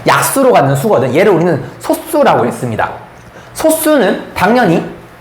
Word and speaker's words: 소수: 이게 발음이 좀 달라. 소수가 있고 소수가 있어요. 혹시 소수와 소수의 차이 아십니까? 이건 상식이긴 한데 한번 물어보려고. 생각보다 많이 몰라, 애들이. 소수라고 발음이 되는 게 있고 소수라는 게 있어요.